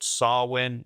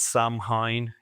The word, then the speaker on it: Samhain: doing a band called Sarwin. Yes, I remember to pronounce that correctly. It's not Samhain, internet.